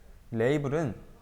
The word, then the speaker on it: 레이블: 핵심 개념입니다 라벨이라는게 있는데요이 라벨은 영어 발음으로 레이블이라죠 레이블은 브레이크와 함께 사용할 수